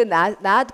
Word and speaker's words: knot: K 발음하지 않고 물론 K, NOW, no라고 발음은 똑같이 K하고 N이 나오면 K는 한 번도 발음을 안 합니다. 원래 다 묵음이고요. 근데 그러니까 not이라고 읽으시는데 K가 붙은 not은 여러분 제가 지금 전에 말한 거 K, N 이렇게 나오면 K는 다 묵음이에요.